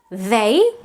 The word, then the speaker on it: they: But we have to make the difference between they, as in these people, and day, as in what a nice day.